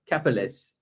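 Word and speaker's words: Karpelès: Karpeles. Karpeles. Yeah, it's French, so I mean the French pronunciation ends like this.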